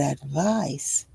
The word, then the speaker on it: advice: You can remember that advice is a noun spelled with the ending ic because it also rhymes with ice, which is also a noun.